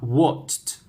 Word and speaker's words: watched: pasada del verbo watch pronunciación chicos con t con t listo practicamos repite conmigo la forma base What una vez más what y ahora tenemos con t forma pasada watched watched okay Sí ya es